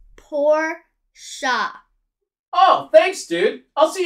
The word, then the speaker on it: Porsche: sports car oh the sports car is pronounced poor shop oh thanks dude i'll see you on set